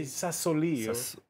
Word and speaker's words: Sassoli: I heard it say Sassoli. I'm putting the accent on the end, the new president of the European Parliament.